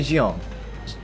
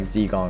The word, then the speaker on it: Xiang: Xiang. Okay. They call me Jang. I guess a lot of people would pronounce her like Zeong or something but like Jang like Xang like that would be